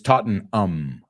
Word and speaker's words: Tottenham: next term wrexham now Americans a lot of time we pronounce that ending ham like you guys Tottenham but it's taught in um um I think he